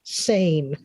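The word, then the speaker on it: CEIN: creative educators international network it's c-e-i-n but it's pronounced sane that opportunity for us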